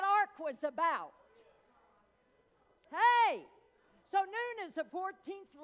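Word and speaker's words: נון: uh letter and that letter is is just pronounced noon and so i always i i get off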